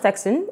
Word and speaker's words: PTECSSAN: The Private Telecommunications and Communications Senior Staff Association of Nigeria, pronounced TEK-SAN, has picketed the Lagos Office of Telecommunications giant MTN Nigeria over anti-labor practices.